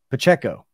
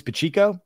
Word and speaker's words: Pacheco: is it yeah Pacheco Pacheco it's Isaiah Pacheco for a year okay I was told that it was pachico and that was wrong and now I'm saying now people tell me it's Isaiah Pacheco so CB Pacheco that's